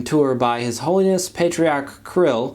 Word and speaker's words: Kirill: As though by divine providence, the recent Latin American tour by His Holiness Patriarch Kirill (pronounced Krill) of the Russian Orthodox Church just happened to overlap with the pope's visit to Mexico.